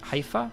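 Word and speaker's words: Haifa: He hifa is pronounced hifa. Hifa.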